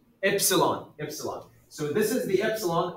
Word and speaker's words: epsilon: Epsilon.